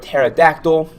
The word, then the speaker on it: pterodactyl: in the old days just like the word pterodactyl right the p is silent there was a p